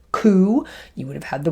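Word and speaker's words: cū: You would have had the word cow, which would have been pronounced coo, you would have had the word steer, which would have been pronounced steor.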